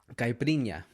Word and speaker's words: caipirinha: How do you pronounce that? Caipirinha.